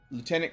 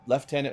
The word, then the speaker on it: lieutenant: So, this is a lieutenant colonel or left tenant, however you want to pronounce it, is fine.